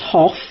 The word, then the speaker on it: Hough: 573 well I'm in Huff on the hill today except it's pronounced Hof you did correct me